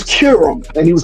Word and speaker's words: Qerim: Well, first of all it started when he started when she checked him on the pronunciation of her last name. Then after that she was like it's Kirum.